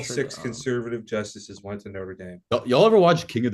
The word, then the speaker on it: Notre Dame: some goofy French words it looks like Notre Dame it's Notre Dame um Clemson Stanford welcome